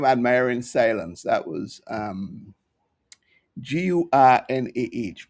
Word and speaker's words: Gurnah: I don't think 2025 was a prolific year for me with African literature, but Guna, that's how you pronounce his name, Admiring Silence. That was Gurnah.